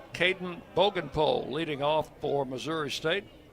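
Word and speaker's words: Bogenpohl: Three and two now to Bogenpole. Spelled his last name spelled B O G E N P O H L pronounced Bogenpole.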